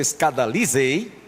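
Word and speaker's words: σκανδαλίζει: Eu estava vendo essa expressão no grego, o verbo escadalizei, essa é a pronúncia, escadalizei, significa: vocês acham que isso vos faz tropeçar?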